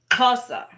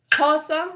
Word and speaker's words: Xhosa: which is my language it's spelled X H of s a casa okay so casa so let's add or